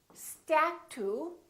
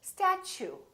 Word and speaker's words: statue: let me show you we don't say step two we say statue statue so the T you sound like chu so it almost sounds like chew I chew my food